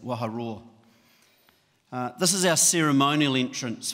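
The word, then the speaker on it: Waharoa: And think of a lion, what a lion does, a lion roars, and that's how we pronounce that, Waha Roar.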